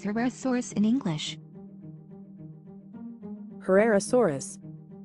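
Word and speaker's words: Herrerasaurus: and a relatively small head how do you pronounce her rare source in English Herrera Soros Herrera Soros let's listen again Carrera Soros Ferreira Soros next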